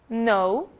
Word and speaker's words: know: As letras G e K não são pronunciadas quando seguidas da letra N. Apenas o N é pronunciado.